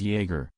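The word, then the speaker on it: Jäger: Jaeger is pronounced as Jaeger, Jaeger, and that means hunter in German.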